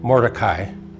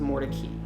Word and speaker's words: Mordecai: and here's my confession of the day sure morai that's what I thought it was well it